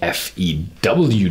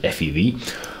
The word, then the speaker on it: FEW: second whiskey from the Fe ew Distillery I think I made a mistake in the first video I always I called it FV that's a German pronunciation so and the second